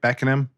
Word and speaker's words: Beckenham: really well for you hailing from beckenham kent uk did i pronounce that right beckon him yes all right peter frampton